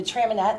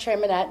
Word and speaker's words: Traminette: It's a semi-sweet, and it is pronounced Traminette, not Traminette. A lot of people see that double T-E and think French.